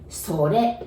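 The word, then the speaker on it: それ: And then it, I know it's written sore, but we say sore, sore. Again, R becomes L pronunciation, sore.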